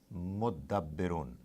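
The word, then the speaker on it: مُتَدَبِّرُون: Sometimes Arabs, they find it more convenient to pronounce it instead of mutadabbirun, mudabbirun. Don't be confused. You'll get used to it. This ta gets attached to the. They merge and they give the sound of two dals.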